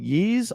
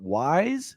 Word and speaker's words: Ys: Hudson soft uh I I've been corrected over the years I have told the pronunciation of this particular franchise is called ye I always used to call it wise because it's a why